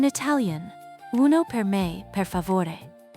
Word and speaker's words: favore: In Italian, uno per me, per favore. It's simple but effective. Uno per me means specifically for you. Thoughtful, listen to the soft V in favore.